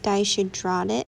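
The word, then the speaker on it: dyshidrotic: um the other day was like it's called daisy dratic so this is what i googled it's pronounced dye should draw it it's basically like blisters on your skin they're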